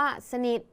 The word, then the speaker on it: สนิท: คะ สุด ท้าย ค่ะ คำ ว่า สนิท คำ นี้ ท ทหาร เป็น ตัว สะกด แต่ ออก เสียง พยัญชนะ ท้าย เหมือน ด เด็ก ดัง นั้น คำ นี้